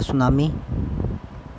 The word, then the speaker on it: tsunami: का नाम है दा सुनामी और सुनामी में टी साइलेंट तथा आपको पता है